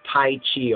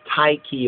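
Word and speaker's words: Tyche: So Tai Chi or TK or Tai K.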